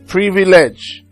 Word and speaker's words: privilege: that is not here let's say for instance privilege okay privilege so the second syllable if you're going to divide that prev okay second syllable is this this is one two so from the end one two so if I'm going to write that again I will have pre V then ledge so you can see